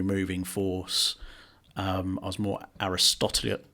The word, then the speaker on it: Aristotelian: I was more Aristotelian. How do you say that word? Aristotelian.